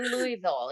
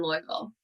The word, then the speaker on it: Louisville: Louisville or Louisville. Yeah, either Okay. way. Okay, perfect. So what are the latest market happenings in Louisville?